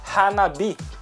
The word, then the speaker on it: hanabi: E algumas vezes ele pode ter uma pequena alteração no som e a gente vai pronunciar como bi.